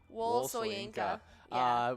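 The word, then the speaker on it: Wole Soyinka: Wol Soyinka.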